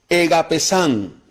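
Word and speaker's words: ἠγάπησαν: Amaron es del verbo, la palabra griega es un verbo que es, es similar a la palabra ágape, pero se pronuncia egapesán. Y egapesán, o también se puede pronunciar agapao, lo que traduce es entregar totalmente todo.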